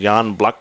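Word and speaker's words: Jan Błachowicz: He's got the co-main event against Jan Blak, which I'm pretty sure I'm saying it wrong.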